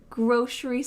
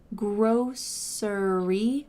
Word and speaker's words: grocery: You can say grocery with an s sound in the middle. Grocery. Grocery. But for me, I say grocery with a sh sound in the middle.